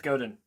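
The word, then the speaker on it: Godin: his last name j it's one as you read it but you never say it right yeah how do you how do you pronounce that no you nailed it Seth Goden Goden Goden okay yeah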